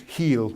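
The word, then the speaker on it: Geels: This is a model by somebody called, I'll mispronounce it, he's Dutch, so I think it's Heel, it's G-E-E-L.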